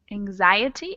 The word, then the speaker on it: anxiety: like an sh but when we say anxiety with the noun form of it it's pronounced like a z anxiety and anxious an anxious